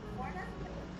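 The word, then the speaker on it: Qorna: Okay, but it's pronounced like corn A.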